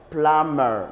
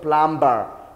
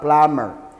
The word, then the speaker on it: plumber: person is called a plumber plumber this bee is silent plumber not plumber no we say plumber we have a structure researcher researcher numu Shaka